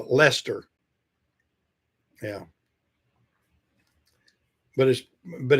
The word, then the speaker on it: Leicester: It's not pronounced the way it looks on the board.